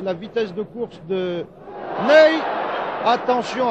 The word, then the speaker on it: Ney: Cela s'écrit comme notre maréchal, Ney, mais ça se prononce Ney, Ney, que voici sur